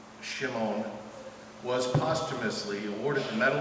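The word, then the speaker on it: Shemin: William Shem pronounced Shimon was postumously awarded the Medal of Honor for his World War I heroism.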